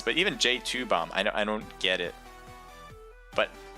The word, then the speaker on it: J2Bomb: Because I think I was saying JT-U-Bomb, which now that just makes no sense. But even J2Bomb, I don't get it.